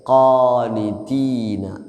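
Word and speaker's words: قَانِتِينَ: ഖാ heavy ലെറ്ററാണ് ഖാഫ്. ഖാനിതീന. ഖാ എന്ന് പറയാതെ ഖാനിതീന എന്ന് പറയണം.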